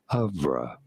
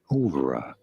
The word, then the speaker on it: oeuvre: It is usually said in British English as œuvre, œuvre. imitating There's no the French fucking F. pronunciation. That's in British. American English, however, this is usually said as ouvre, ouvre in American English, or oeuvre in British English.